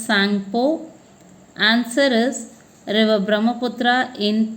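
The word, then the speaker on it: Tsangpo: T is silent, so it should be pronounced as Sangpo.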